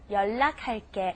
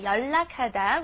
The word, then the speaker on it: 연락: or say it because it doesn't sound like the way it's spelled. Okay, 연락하다, which means to contact someone. Steven, what's going on with this spelling here? Yeah, I used to always want to say Yeah. 연락. No, 연락.